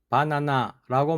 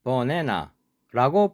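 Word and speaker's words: banana: B-A-N-A-N-A 글자를 보면 한국식으로는 분명히 바나나입니다. 액센트 때문에 못 알아듣나 해서 바나나, 바나나, 바나나라고 발음해도 못 알아듣습니다. 발음 기호는 버네너입니다. A에 액센트가 있으면 액센트가 없으면 어로 약하게 발음합니다. 발음 기호 표시대로 하면 버네너. 그런데 미국인은 버네나라고 발음합니다. 발음 기호는 버네너이지만 실제로는 버네나로 발음합니다.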